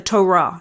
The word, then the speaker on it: Torah: which in Judaism is called the Torah or the Torah if you pronounce it with the correct Hebrew accent I'm not usually a